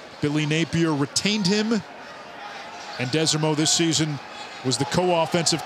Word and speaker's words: Desormeaux: You heard Taylor talk to Michael Desormeaux. That's the pronunciation. You've heard it a number of different ways, Desormeaux, but it's Desormeaux.